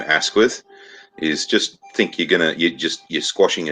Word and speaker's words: Asquith: Asquith, is that how you pronounce his name, by the way? Yes, Asquith.